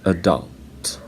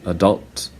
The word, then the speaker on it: adult: And the last one, adult and adult. So Americans say adult, and British people say adult.